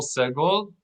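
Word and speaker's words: סגול: Segol. Accent the first syllable.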